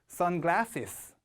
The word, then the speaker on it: sunglasses: 마지막으로 sunglasses, 강세가 여기에 오죠? S 발음 2번 해주는 중요한 단어. 다 같이요. 제가 읽으면 따라해 보세요. sunglasses.